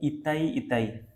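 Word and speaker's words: itai-itai: हुई तो [गला साफ़ करने की आवाज़] जाए इताई इताई ठीक देख के प्रोनाउंस इताई इताई डिजीज ये कहा हुई कार्डमियम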